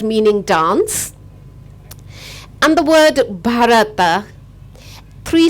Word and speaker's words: bharata: a Sanskrit word meaning dance and the word bharata three syllables ba ra and PA there are two